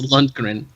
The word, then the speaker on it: Lundgren: one turn memorial trophy why would he why would they say his name incorrectly every time 11 it's Lundgren oh it's laundry top